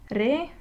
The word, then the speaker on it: reacciones: Let's divide this word into syllables. Reacciones. This is a word that ends with an S. That means we stress the next to last syllable. So this is the syllable that is naturally stressed.